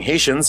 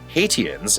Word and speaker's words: Haitians: She felt that mispronouncing Haitians as "Hate-i-ans" is something Cher's ditzy and self-absorbed character would totally do.